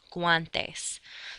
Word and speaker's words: guantes: no W sound however if you do have the letter combinations of g u a then you can make the W sound gu like for gloves in Spanish guantes so look at those